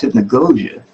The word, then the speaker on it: hypnagogia: i was just like i don't think i'm pronouncing that right you know so i checked it and i was like no it's hypnagogia but yeah that i don't i can't [